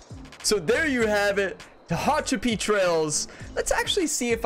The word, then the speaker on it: Tehachapi: I said that so there you have it Tahachapi Trails let's actually see if I'm saying that correctly let's let's get Google to check my work here Tahachapi pronunciation okay let's see Tahachapi Tahachapi that's pretty close to hatcha to hatcha that's